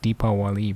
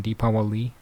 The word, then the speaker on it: Deepavali: a complaint about like deepa wali bro i say deepa wali you know you gotta say you gotta separate these syllables like that man deepavali no deepavali that's how i say